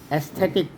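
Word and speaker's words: aesthetic: जैसे कुछ ऐसे है एस्थेटिक ई से ऐसा लग रहा जसे ई से उच्चारण हो रहा है ए से शुरू है स्पेलिंग ए से शुरू है पर इसको बोलते हैं एस्थेटिक एस्थेटिक ई एले तो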